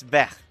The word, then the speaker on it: Vert: And also, in case you're wondering how to pronounce Green Inkling Squid's nickname, it's Vert. It's a French word, Vert. It's French for green.